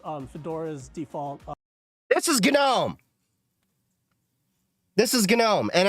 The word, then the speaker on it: GNOME: It's Gnome because it's based it's part of the whole GNU, you know, GNU is not Unix philosophy which we can go down that rabbit hole someday.